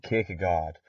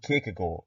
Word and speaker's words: Kierkegaard: Søren Kierkegaard, or Søren Kierkegaard if you're being pretentious and want to try to say his name the Danish way.